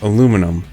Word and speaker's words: aluminum: Next we have aluminum, or aluminium. I personally don't care how you say it, because either way, we all know what you're referring to.